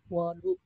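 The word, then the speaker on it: وَضوء: Wa bi fathiha, adapun kalau wawnya fathah, berarti gimana bacanya? Wau fathah itu gimana? Wadu.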